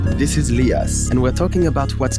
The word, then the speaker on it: Lyas: This is Leas and we're talking about what's contemporary now. Leas. How many people call you Lias?